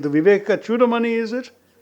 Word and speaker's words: Chudamani: He also authored one of you will have to correct my pronunciation, the Viveka Chudamani, is it? Chudamani.